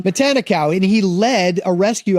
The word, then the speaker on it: Matanikau: Matanka. No. Yes. Yeah. It's a good story. Yeah, God. you're right. Matanikau. Yes. I'm saying it wrong. I'm so sorry I'm saying it wrong. Matanikau.